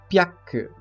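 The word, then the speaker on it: ぴゃく: Pyaku, que na forma escrita é o hiragana ri com a bolinha ao lado, o qual chamamos de maru. E diferentemente do tenten, neste o som da sílaba ri é alterado para pi.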